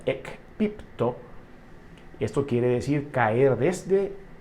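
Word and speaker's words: ἐκπίπτω: Entonces, en el original griego, caído viene de un vocablo que se pronuncia ekpipto.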